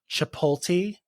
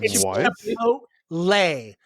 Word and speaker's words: Chipotle: And then the one word that kills me is when everyone says Chipoti and that's what I just said. Chipotle chipot. The L the L comes after not before.